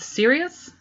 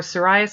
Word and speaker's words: Sirius: is the green blue this colorway is called Sirius or psoriasis it's spelled s-i-r-i-u-s I pronounce it serious because I saw that and immediately thought of Sirius Black if you know you